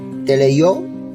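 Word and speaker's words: τελειόω: Así se pronuncia, teleio o teleio.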